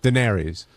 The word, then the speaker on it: Daenerys: How do you pronounce it? Daenerys.